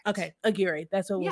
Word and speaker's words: Aguirre: yes oh i think i think i finally said her name right i was saying aguiar but i was i i was like i don't think that's right i heard somebody else say aguirre and i think that's correct okay aguirre that's what